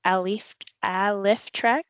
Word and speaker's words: Alyftrek: how to pronounce it it is pronounced alif alrek I still can't even